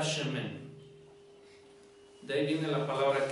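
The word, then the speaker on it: שמן: Esta palabra aceite, en diferentes palabras hebreas, que es para aceite, esta palabra aceite se pronuncia mi cabeza con Dishanta Shemen.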